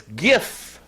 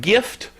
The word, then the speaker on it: GIF: it's pronounced gif yes like the peanut butter jif jiff so there anyway